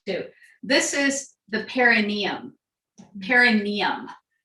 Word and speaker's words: perineum: Perineum. And if I say perineum, that's wrong. It's perineum, but it's an old habit. I got corrected at the last workshop. Say it right.